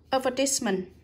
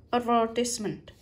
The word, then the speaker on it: advertisement: Advertisement, từ này có hai cách đọc nhé. Này, nhấn vào ver này, advertisement, advertisement. Và đây là nhấn vào ties, thì cái từ đầu tiên lại đọc thành e.